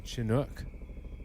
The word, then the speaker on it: Chinook: That's a Chinook. It is. That's like a double-bladed I believe it's helicopter.